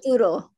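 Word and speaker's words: turo-turo: And that's called the, sorry, I'm going to mispronounce. Turo, turo.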